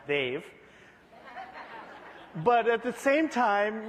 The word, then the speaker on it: Dev: My family is Indian, which is why I have a high maintenance name that's spelled D-E-V and pronounced Dave.